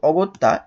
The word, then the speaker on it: অগত্যা: এর মতে উচ্চারণ হয় যেহেতু অগত্যা এ শব্দেও একটা নাবোধক অর্থ প্রকাশ করছে তার মানে এই অটা এই অ টা অ রূপে উচ্চারিত হবে তাহলে কি হলো একটা